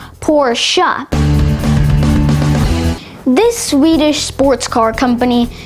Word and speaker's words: Porsche: It's commonly mispronounced as Porsche, but it's actually pronounced Porsche.